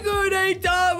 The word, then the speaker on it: Gudetama: His name rhymes with Uheyama. Because, family, his name is Gudetama.